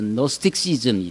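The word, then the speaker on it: Gnosticism: 그 헬라어로 지혜를 그노시스라고 하는데 이게 이제 영어로 붙으면 앞에 GN 이렇게 나와서 G가 묵음이 돼서 노스틱시즘이 돼요.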